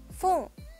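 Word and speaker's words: 分: Lalu kanji yang terakhir adalah yang satu ini, dibacanya adalah fung.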